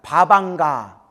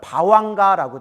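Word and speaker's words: bhavaṅga: 바방가. 또 다른 발음 바왕가라고 돼요.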